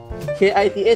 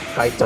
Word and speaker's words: Kita: Kita = We / Us How would Malaysians pronounce that? Kaita? No. They say "Kite". I would spell to them, "K-I, Ki, T-A, Ta" And they would still go "Kite".